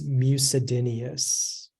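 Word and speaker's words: mucedinous: Your word is mucidineous. Mucidineous. May I have the definition, please? It means having the nature of or resembling mold or mildew. Mucidineous.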